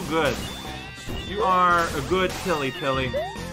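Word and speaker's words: Pily: You are a good Pilly. Apparently a lot of people pronounce her Peely or something. I'm sorry. I'm aware that P-I-L-Y would probably be actually pronounced that way.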